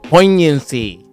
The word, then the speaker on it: poignancy: Like that one, I can kind of see the G silent, but why?